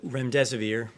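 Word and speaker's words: Remdesivir: so much I wanted to ask out rent rent severe if I pronounced that correctly can you tell say is it currently approved for use on the virus so REM des aveer and it's a drug made by Gilead that's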